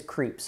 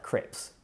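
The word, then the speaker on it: Krieps: correctly by the way it is creeps and not like crep right or like Crips really sorry she's phenomenal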